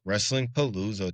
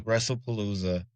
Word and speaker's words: Wrestlepalooza: First on the docket this week, Wrestling Palooza 2025 match card. Wrestling Palooza as a whole. Wrestlepalooza.